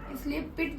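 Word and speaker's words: peat: ये हम इसे पिट प्रोनाउंस करते हैं। इसका अगर हम देख रहे हैं स्पेलिंग के हिसाब से इसे पीट प्रोनाउंस करना चाहिए, लेकिन हम इसे बोलते हैं पिट।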